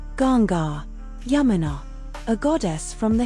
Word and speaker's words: Ganga: Primary domain cosmic order secondary domain wisdom transmission pronounced sarishi sacred rivers and life forces gonga a goddess from the Hindu tradition. Primary domain purification. Secondary domain sacred river pronounced Ganga Yamina a goddess from the Hindu tradition.